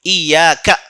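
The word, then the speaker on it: إِيَّاكَ: دیکھیے یا پر تشدید ہے، ایاکا ہے نا، اسے ایسے ہی تلفظ کرنا ہے.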